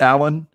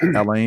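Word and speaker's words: Alain: and you pronounce it alan it's just alan even though it looks like elaine it's the french french version of alan okay got it yeah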